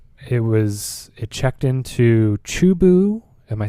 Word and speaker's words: Chubu: space parts um it was it checked into chubu am I saying that right chubu International Airport okay near a place called tokoname Japan yes I know it well chubu you pronounced it correct okay yeah thank you thank